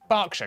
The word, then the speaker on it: Berkshire: Norwich, Berwick, Southwark, ER is pronounced R. Berkshire, Clerkenwell, Hertfordshire.